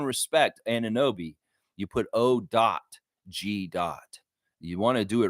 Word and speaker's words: OG: respect Anunoby, you put O.G. You want to do it right. You want to say it correctly. You want to have respect for him. You put O.G. It's not O.J. Simpson, guy.